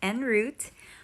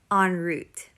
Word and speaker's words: en route: And yes, ganun ang pag-pronounce. Hindi en route, en route.